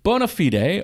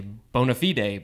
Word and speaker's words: bona fide: how to pronounce that you know depending on the context if you're being all fancy and latin you'd say bona fide right but usually we just say bonafide and there is the